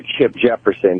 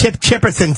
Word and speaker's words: Chip Chipperson: And I also wanted to say hello to Chip Jefferson. You don't get a lot of love on the show, Chip. We love you out here. It's Chip Chipperson, stupid.